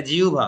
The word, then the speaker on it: জিহ্বা: দেখো এইযে হব ব তাহলে এটা জিহুভা ওকে তোমার প্রথম দুই একবার শুনতে অস্বস্তিকর মনে হতে পারে কিন্তু এর শুদ্ধ উচ্চারণ এটাই জিহ্বাও নয়